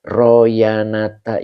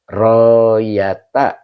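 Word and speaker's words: رؤيته: Royata. Oh tadi saya bacanya apa sih? Royana. Royata. Heeh. Betul. Saya bacanya apa sih tadi? Masyaallah luar biasa. Heeh. Royata. Heeh. Yang benar adalah royata ya.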